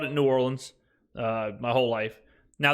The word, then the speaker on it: New Orleans: call it New Orleans think of this way it's like new like new and then ore like what you row a boat with and then lens like a camera lens that's how you say it New Orleans and you put the emphasis on that ore okay so that's what